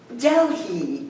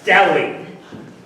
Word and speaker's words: Delhi: Delhi Diamond. Polly, it's the H is silent. It's Delhi.